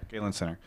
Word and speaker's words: Galen Center: at Staples Center and also returning to the Galen Center. Is that how you pronounce it? Yes. Galen Center.